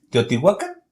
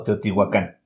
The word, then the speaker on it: Teotihuacán: Bueno, de acuerdo al náhuatl, todas las palabras náhuatl son graves, entonces se acentúan en la penúltima sílaba. Si nosotros decimos Teotihuacán, lo estamos pronunciando en español. Si decimos Teotihuacán, lo estamos pronunciando en náhuatl.